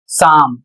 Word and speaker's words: psalm: अगला शब्द है पी एस ए एल एम और इसे पढ़ा जाएगा साम।